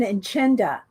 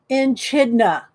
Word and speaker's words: echidna: All right, everybody's saying it's an enchinda. Okay, let me write that down. Enchinda. This is how they're spelling it. Echidna. Echidna. Am I saying it right? Oh, it's an echidna is how you say it.